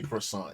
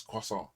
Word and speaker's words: croissant: Go pronounce it. So I can't say croissant. It's croissant.